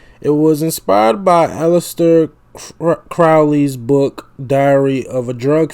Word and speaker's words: Crowley: Osbourne mispronounces Crowley's name. Oh, so it is Crowley. It's Crowley.